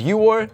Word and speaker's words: 유월: written that way so that's why June is yor and October is shiar they're easier to say